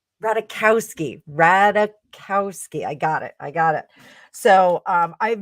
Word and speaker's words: Ratajkowski: Harry Styles is currently performing in Japan and was spotted smooching the ever gorgeous Emily Ratajkowski. I can never say her name right. Ratajkowski.